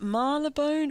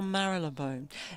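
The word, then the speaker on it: Marylebone: to get anyone to give me the definitive pronunciation Marone is it marab bone or maral laone because I've I asked people in that suburb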